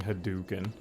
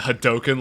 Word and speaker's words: Hadoken: back what is this I'll never forgive you for saying haduken what do you call it hadoken like everybody else you mean the way it's supposed to be pronounced yes well the street